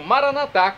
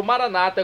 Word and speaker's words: maranata: pai celestial e agora eu clamo maranat como dizemos nós católicos ou Maranata como dizem nossos irmãos separados os evangélicos ou protestantes não importa a pronúncia o significado é o